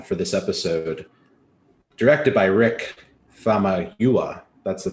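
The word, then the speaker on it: Rick Famuyiwa: spoiler-free reactions uh for this episode directed by rick fama huwa that's the pronunciation of his name i wrote it down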